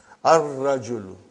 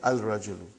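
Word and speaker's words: الرَّجُلُ: Ar-rajulu. The man. Not al-rajulu. It will be wrong to say al-rajulu. It will be ar-rajulu. We won't pronounce lam. Why? Because it is a sun letter.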